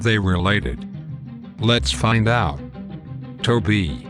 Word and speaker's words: Tobe: Tobe. Do you know what rhymes with Tobe? That's right. Okeechobee.